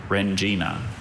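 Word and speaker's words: rendzina: Rengina. Can you repeat the word? Rengina. Rengina. Any alternate pronunciations?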